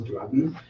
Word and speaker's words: duodenum: The duodenum is, or duodenum, if you prefer to pronounce it like that, is designed to produce